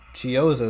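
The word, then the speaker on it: Chiozza: Three ball from Chris Chioza is how you say it.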